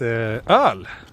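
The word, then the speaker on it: öl: beer place in swedish beer in swedish is earl which is a funny word it's all it's spelled which is one of these letters that we have in sweden which is the o with two dots on top of it and then l and it's funny because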